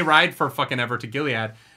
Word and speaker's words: Gilead: And so they go to Gilead.